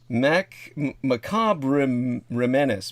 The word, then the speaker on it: Macabre Menace: That actually it would be correctly pronounced macabre menace. He made it one word, so people like myself try to read it out syllable by syllable, and it just comes out all wrong.